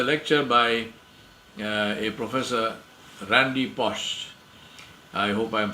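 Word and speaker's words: Pausch: there is a lecture by a professor Randy post I hope I'm pronouncing his name correctly p-a-u-s-c-h Randy Bosch now he's a professor of computer science and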